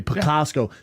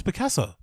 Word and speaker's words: Picasso: John Lennon or anybody picasco they have to what did you hear how you pronounce Picasso no I've never heard that in my entire life they say picasco picasco